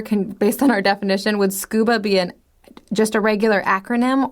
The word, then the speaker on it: scuba: on our definition, would scuba be just a regular acronym, or is it an initialism? Well, it's a regular acronym because I say scuba. Yeah, you say it like a word.